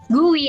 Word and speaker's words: GUI: interface or the gui or degree pronounced as gui i mean all macs